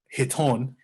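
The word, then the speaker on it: chiton: what is called that that word is um hiton uh the sea is silent so they were what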